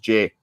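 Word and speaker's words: Ghey: last name is pronounced J apparently um it oh right it's SP g g it's spelled ghe y so you you would think her name is gay but it's apparently pronounced Jay but people used to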